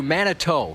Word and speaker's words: Manitou: And thank you, Manitou. People are saying that's how it's pronounced.